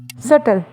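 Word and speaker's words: subtle: एंड the next सटल। सडल में भी silent है और ऐसी बात जो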